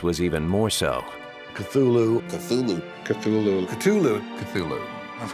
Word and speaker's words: Cthulhu: You're supposed to put your tongue at the roof of your mouth and cough it out like Cthulhu. But he says, you know, the name is an entirely alien name, not designed to be pronounced by human vocal cords.